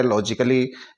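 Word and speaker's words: logically: हम इसको फिजिकली पढ़ेंगे इसी तरह लॉजिकली एल ओ जीी आई सी A double L वाई यहां भी डबल एल वाई से पहले ए आ रहा है तो हम इसको भी साइलेंट कर देते हैं और रोमांटिकली इसमें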